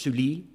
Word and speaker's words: Scully: My last name is Sully, but in French it's pronounced Sully.